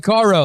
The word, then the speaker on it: Caro: it's like Herbie Carr without with the no.